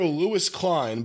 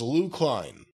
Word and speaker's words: Lou Klein: limit Buck Masters versus it says here Lewis Klein but it's Lou Klein Luke Klein all right